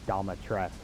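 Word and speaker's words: Dimitrescu: Uh, this and Datascu Castle are actually or as as the Duke pronounced it, Damatresque.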